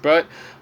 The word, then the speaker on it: Baird: actually Lucy Gray Bird, Bird Baird, okay, it's pronounced Bird.